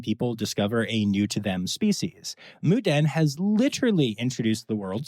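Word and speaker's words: Moo Deng: I'm talking, of course, about Moo Den, which is spelled Moodang, and a lot of people say wrong, and Pesto the penguin.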